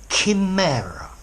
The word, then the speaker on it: chimera: hi there students a Kim error I know it's got an age but the H is silent team error okay in